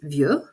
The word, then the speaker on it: vieux: If I go across this list, they are pronounced vieux, vieille, vieux, vieille, vieille.